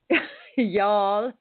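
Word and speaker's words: Youghal: Y'all. Um, yeah, I'm in Yall. H, which is spelled Y O U G H A L. So, not W, not Y. Yeah. Yeah. No, y'all.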